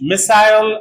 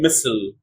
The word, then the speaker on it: missile: agile American agile British riptile American riple British missile American missile British file American fle British futile American fule